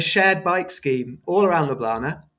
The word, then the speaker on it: Ljubljana: I've got an extra syllable in there that you don't have. Ljubljana, that's how I would say it.